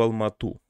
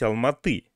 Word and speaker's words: Алматы: такую момента обратил а девушка говорит в алмату правильно говорить алматы но она живет уже